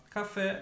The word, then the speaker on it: café: Café, mais forte, fé.